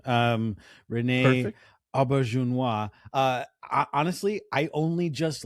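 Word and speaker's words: René Auberjonois: By the way, u your pronunciation of Odo's real name um Renee Ahuna.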